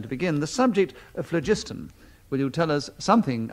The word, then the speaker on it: phlogiston: I'd like to pronounce it phlogiston because that is the way I believe in which it was said in the olden days.